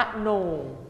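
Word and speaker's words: มโหนก: คำ ที่ 4 ค่ะ อ่าน ว่า มะ โหนก คำ ที่ 5 ค่ะ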